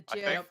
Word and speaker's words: GIF: The GIF.